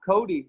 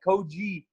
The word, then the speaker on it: Cody: And like the weirdest thing, no one, I guess here in Brazil, no one's heard the name of Cody, so they say it like Koji.